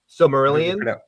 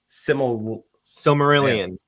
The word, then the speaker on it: Silmarillion: How do you pronounce it? I don't even think I ever. Silmarillion. Silmarillion.